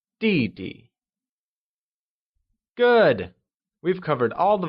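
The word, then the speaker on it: 弟弟: line younger brother translates to DD which is pronounced using the following tone let's try and say DD good we've covered all the vocabulary for today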